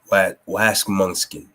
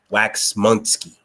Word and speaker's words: Waxmunski: Oh, that's Waxmunski. Waxmunski. That's how you say it.